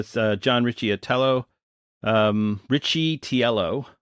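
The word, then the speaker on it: Riccitiello: John Richie atello um Richie tiello not Richie atello wow my pronunciation is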